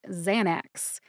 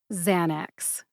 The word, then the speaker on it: Xanax: the brand name Xanax this one only has two syllables xan which rhymes with San as in San Francisco and axe which is